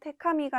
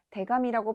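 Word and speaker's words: 手紙: 하가키와 동일하게 두 개 붙었을 때는 타금 현상이 일어나서 테카미가 아니라 대가미라고 발음된다는 점 주의하시면 되겠습니다.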